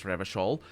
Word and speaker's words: Revachol: capitals in Revachol is, but I don't pronounce it like that, because I pronounce it like the Portuguese would pronounce Revachol, which is on the all at the end would be the tonic syllable, because that's just how Portuguese works.